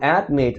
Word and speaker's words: admit: O admit, a última sílaba é a tônica e ela é CVC, então